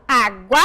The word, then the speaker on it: água: se identificar a água aonde eu pronuncio com mais intensidade eu falo água e aqui ó eu